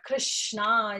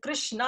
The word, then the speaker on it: Krishna: So Krishi, the Krish word, the Krishna actually, it's a bhu vachako. It's a two syllable word, Krish and Na.